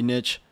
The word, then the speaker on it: niche: and by the way it's pronounced Niche if you say Niche I don't know if you're trying to sound cool whatever you're mispronouncing it niching down is not